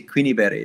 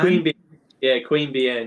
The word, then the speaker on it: Queanbeyan: new south wales and i always pronounce the name wrong i say queenie berry but it's queen queen yeah queen bien yeah so yeah so what's